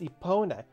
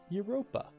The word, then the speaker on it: Epona: Her name is Epona. Isn't she cute? As a kid, I mispronounced this as Europa.